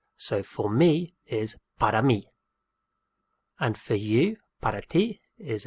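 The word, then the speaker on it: para mí: me and for you which is the word for is spelt p a r a and then me is m i with an accent so for me is parami and for you parity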